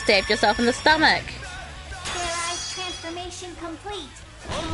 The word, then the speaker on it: Fairize: Do it again, and this time make sure you pronounce the Z. Fear eyes. Fear rice. Get ready. Okay. Command. Fear eyes. Fair rice! And you just stabbed yourself in the stomach. Fairize transformation complete.